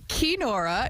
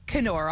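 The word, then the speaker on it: Keenora: The SS Canora, which is actually pronounced Kora, not Canora, although it did come from Lake of the Woods, 1897 when this one was built, is spectacular.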